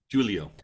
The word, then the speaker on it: Giulio: Giulio. Okay, Giulio.